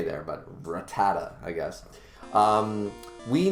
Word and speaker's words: Rattata: rattata um or ratata so many people i've heard so many pronunciations of ratatat you know rat attack and it's like it's clearly not ratatat there's not an extra a there but rattata i guess um we